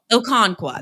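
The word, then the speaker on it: Okonkwo: Okinawa, uh, is not a bad option. Okono, Okonqua, that's how you say it.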